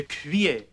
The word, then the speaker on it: cuillère: A spoon is a cuillère.